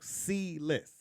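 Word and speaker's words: Seles: Yes, like C-less. Oh, C-less. C-less, correct. Like the letter C? No, Yeah. S. Well, it's a S-E-L-E-S, but you pronounce it C-E-L-E-S.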